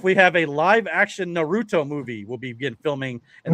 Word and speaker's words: Naruto: It's pronounced Naruto. Naruto.